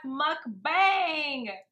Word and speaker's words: mukbang: It comes from mukja for eating and bang song for broadcast. Eating broadcast, mukbang. We got it, you guys. The pronunciation is a bit tricky to get right, but we got it.